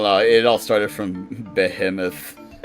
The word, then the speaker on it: Behemoth: Well, in the actual Latin pronunciation, it is Behemoth.